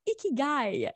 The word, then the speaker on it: ikigai: vous allez voir que il faut le prononcer avec un sourire ça se prononce et qui gagne et pas comme ça très au bonheur et